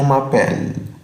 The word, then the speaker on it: m'appelle: طيب لما أجي أقول جو m'appelle آخر حرف متحرك هنا فين؟ هو حرف الأو برضه.